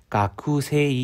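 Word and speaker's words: 学生: 보겠습니다 단어에만 한자 각새 가쿠세이 이렇게 하기보다는 세일을 보통 장음으로 새해라고 읽고 쿨을 이제 속삭이는 것처럼 약하게 하려고 했죠 락스에 1번 학생 바로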